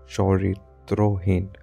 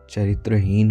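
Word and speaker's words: চরিত্রহীন: तो एक नॉवेल है जो बंगाली में लिखी हुई थी 19वीं शताब्दी में, चरित्रोहीन, अगर बंगाली प्रोनाउंसिएशन हम करें तो ये होगा चरित्रोहीन।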